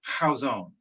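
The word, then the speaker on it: Chazown: tough to translate into english the word is how zone and can you spell that c-h-a-z-o-w-n i believe okay i craig um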